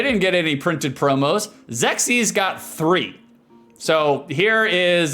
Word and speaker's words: Xexyz: It's Zexis. Like sexis but with an X. Zexis and they obviously dump